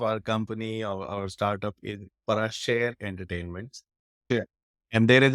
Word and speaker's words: Parashare: That's interesting and a very cool play of words there because Parashare is the way you would pronounce it as a surname in India.